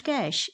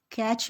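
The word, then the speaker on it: cache: This word is pronounced कैश, इस word को कैश बोला जाता है, ठीक है। कैच भी बोला जाता है, कैश भी बोला जाता है, ठीक है।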